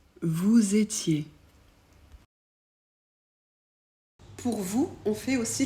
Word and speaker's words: vous étiez: nous comme un Z vous étiez pour vous on fait aussi la liaison donc on prononce le S de vous comme un Z vous étiez on ajoute